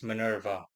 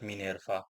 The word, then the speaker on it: Minerva: Hello again people mo again as always and as usual I'll be treating the Roman goddess Manurva or better said Minerva whom I shall be referring to pronunciation wise henceforth.